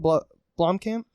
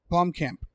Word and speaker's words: Blomkamp: Blomkamp? Blomkamp.